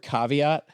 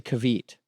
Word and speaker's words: caveat: you know the word caveat I heard someone say kavit kavit yes but I that's why